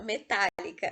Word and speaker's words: metálica: Esdrúxula, metálica. Metálica é uma palavra esdrúxula, porque a sílaba tônica é a antepenúltima e todas elas levam acento.